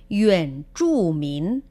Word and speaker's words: 原住民: En este caso, la palabra clave para aborigen, como hemos dicho, es yuan zhu min, zhu, zhu. Si os fijáis, la ZH va sin aire.